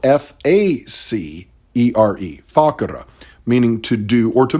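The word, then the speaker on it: facere: the thick part actually comes from a word is spelled f-a-c-e-r-e fakura meaning to do or to make so literally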